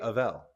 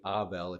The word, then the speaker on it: Avel: say Avel, like Adele, but it's actually Avel if you want to say it correctly.